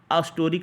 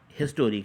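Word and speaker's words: historic: ए हिस्टोरिक, अस्टोरिक नहीं है, हिस्टोरिक है, हिस्टोरिक हा से शुरू है, तो इसमें क्या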